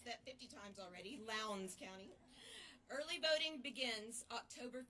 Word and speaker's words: Lowndes: Excuse me, Lowndes County. I've asked somebody how to pronounce that 50 times already. Lowndes County.